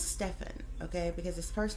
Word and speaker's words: Stephen: real quick overview uh I believe it's Stefan okay because his first